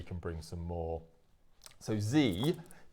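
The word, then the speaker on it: Dzi: So Z, D-Z-I is how it's spelt, but it's actually pronounced Z, the D is silent.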